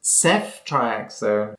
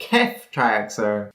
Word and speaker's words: ceftriaxone: also even though a house says Seth triaxo which is how it's pronounced in the U.S Hugh Laurie would say kef tryaxon as it is in the UK scientists love playing with